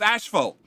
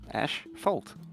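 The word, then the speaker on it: asphalt: son gotcha yep yep it's how it's pronounced australi it's ashful okay it's just how it is Ash fault yeah take the word Ash and the word fault is deck a Polly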